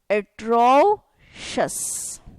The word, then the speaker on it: atrocious: O, atro, this is sha. Atrocious.